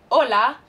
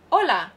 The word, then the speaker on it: hola: familiar so hola repeat hola remember in spanish that the h is silent so you would never say hola no you'd say hola which would mean hey